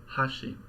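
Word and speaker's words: 箸: a Japanese pitch accent example one Ashi meaning chopsticks with an accent on the first Mora right so if you're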